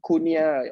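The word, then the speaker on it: Cunha: know his name is kunha c-u-n-h-a kunia or something that's how they pronounce it he's playing for herter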